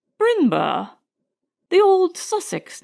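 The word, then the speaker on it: Brindlebury: of the last candidate my name ma'am he replied is b r i n d l e b u r y brindleberry pronounced binur the old Sussex name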